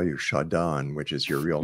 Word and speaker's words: Shadan: Washington State and uh my name is shadon I know it's gone yes and I never get mad when people say it wrong because I I just figured most of the time they will so but no I I shonda's nice too you can call me either one I'm going to call you